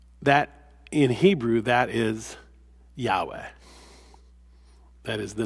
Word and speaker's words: Yahweh: in Hebrew that is Yahweh. That is the name of God Yahweh. We used to pronounce it Jehovah but modern scholars now think the way to pronounce the word is is Yahweh.